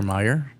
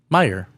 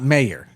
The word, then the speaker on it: Mayer: So how do you pronounce it? Oscar Meyer. Meyer. Meer. Yeah. Not mayor or mayor. Mayor is m a y o r, right? Like the mayor of a city, right?